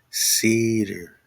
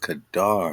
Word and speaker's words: Kedar: They changed the C's and K's just to put a hard C and a soft C and a hard K. So now they'll change this K to a C and you'll call it cedar. But we're talking the lands of Kedar, and this is a